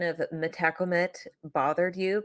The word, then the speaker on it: Metacomet: of metacomet bothered you because I know that in some parts of the country it is metacomet but I just want to say I Googled it okay I looked for the proper pronunciation and it was M uh and it was metacomet so I'm just going